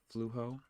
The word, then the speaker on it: Flujo: Billy said, I use the Flujo app, pronounced Fluho, on my Android TV.